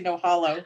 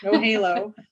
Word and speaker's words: No Halo: I always want to say no hollow. No Halo.